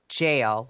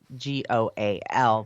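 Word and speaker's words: gaol: ran the investigations at the parramatta jail which is spelled g-o-a-l there and i always want to say goal um and we were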